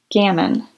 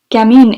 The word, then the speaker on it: gamin: what a gammon is gammon she gave it the english pronunciation oh yes gamin is the feminine but